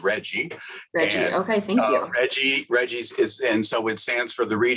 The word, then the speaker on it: RGGI: emission reductions so um rggi is pronounced by the uh climate aficionados is reggie okay reggie's is and